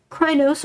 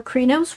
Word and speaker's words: Crinos: when you're falling werewolf you are krynos or krinos we're accepting both pronunciations in this campaign and as you may